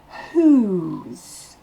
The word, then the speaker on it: whose: Le W ne se prononce pas. Le H est soufflé. Et ensuite, le O se prononce OU. Un OU long. Whose. Avec le S, ça va se prononcer whose. Comme un Z à la fin.